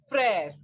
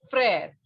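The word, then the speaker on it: frère: you just understand that wherever this letter e is written with such an accent on it okay accent or a line we can say the pronunciation will be a okay like pear mer similarly this will be prayer bravo prayer prayer means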